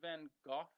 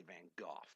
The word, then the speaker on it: Van Gogh: This is an episode about Vincent van Gogh, as it's pronounced.